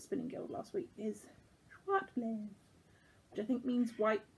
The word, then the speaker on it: Zwartbles: This is John Arbon merino it's written Zwartbles, but the Dutch pronunciation I was told by a friend at Spinning Guild last week is Schwartblaze, which I think means white blaze.